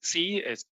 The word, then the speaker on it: Tse: My name is C. It's hard to pronounce. I usually say it C as in the letter C.